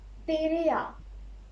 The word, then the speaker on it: tereyağı: So, just notice that I ignored this one. And what about this? As you know, this is O. O. So we read this one, tere, tere a, okay, tere a. Then when you come to this one, tere a little bit of a tush. But you have to ignore this, tere a, tere a, tere a, tere a.